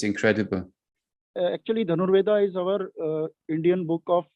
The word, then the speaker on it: Dhanurveda: And when you see the history in India, with Dhanur Veda, how do you pronounce it properly? The art of archery. There's this book Dhanur Veda. it is Dhanurveda.